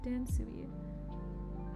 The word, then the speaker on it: Dansui: You pronounce it as Dansui. Like, Su as in, like, I'm going to sue you. And E as in, like, the letter E. So, Dansui.